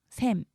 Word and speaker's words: 샘: 자, 보면은 무, 김, 뱀, 샘 이런 단어는 지금 준말이 표준어가 되면서 장음이 돼요. 그래서 이름절 단어는 되게 긴 소리로 발음합니다.